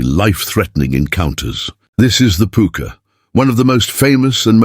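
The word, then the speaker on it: púca: The puka, whose name is pronounced puka and may derive from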